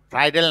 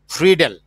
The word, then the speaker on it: Friedel: Hello, হ্যাঁ, ফ্রাইডেল না, আমাদের বাংলাগুলো সব জি লিখছে স্যার, ফ্রিডেল, সব জায়গায় ফ্রিডেল লেখা আছে, আমরা Friedel. উচ্চারণ করবো, হ্যাঁ, ফ্রিডেল craft, ফ্রিডেল craft limitations.